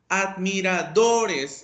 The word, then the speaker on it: admiradores: Entonces, admiradores, la sílaba tónica es do.